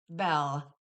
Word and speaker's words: Bel: Um it's I often every video I'll say bail. Bale. Bell. Okay. But apparently the proper pronunciation is bell, but I state it.